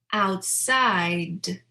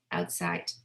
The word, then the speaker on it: outside: Now, let's do the /D/ "afraid" "bad" "bread" "outside" "cried" So I'm really pronouncing that last sound as a voice sound right because /D/ is voiced so it's not "afrait" or "bat" it's not "breat" "outsite" So it's something to